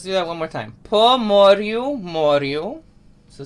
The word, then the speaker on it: Po Moryu: One other thing about Ukrainian, all R's are rolled. So every time you see an R, it's a R, you're going to roll your R.